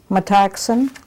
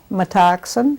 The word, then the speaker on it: Metoxen: My name is Metoxen is spelled, Metoxen, M-E-T-O-X-E-N.